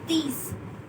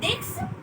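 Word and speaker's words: dix: That is these. It's not this. It's these.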